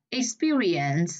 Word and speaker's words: experience: Experience là âm hai.